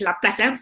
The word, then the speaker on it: Laplace: Okay, Laplace equation is actually pronounced as Laplace. So betul saya pronounce because it is from French research.